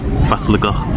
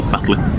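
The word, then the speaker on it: fallegur: But to say the word fatligach or fatlik, it means beautiful, and that's because double L is a T in Icelandic.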